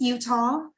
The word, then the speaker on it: Uttal: It's Uttal, but okay.